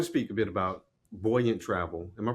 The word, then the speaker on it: Buoyant: I want to speak a bit about buoyant travel. Am I pronouncing it right, Bree?